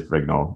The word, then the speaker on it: Brignole: It is Brignole, yeah.